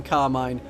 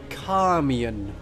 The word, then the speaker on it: Carmian: Von Carmine, whose name I've just mispronounced. Because it's, of course, Carmian. Carmian. We are calm, and we are someone called Ian. So Carmian. But he said it was